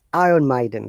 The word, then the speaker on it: Iron Maiden: ibrahim and driven but in iron they don't pronounce r so it is iron maiden they say iron margin yeah but um americans